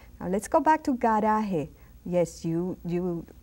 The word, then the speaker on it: garaje: Now you see the G and A. A is supposed to be a strong letter, so we say garaje, garaje.